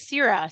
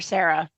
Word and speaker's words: Cera: My heroine's name is Cera, C-E-R-A. I don't want people to call her Sarah. It's not a bad name though. No, that's a good name, but that's not her name.